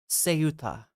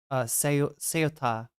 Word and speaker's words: Ceuta: It is a S sound, not a K sound. Okay, great. I was just making sure. I thought so. Ceuta.